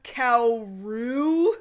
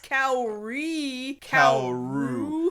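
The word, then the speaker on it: Kaoru: oh that's my brother cow Roo not kauri now to his credit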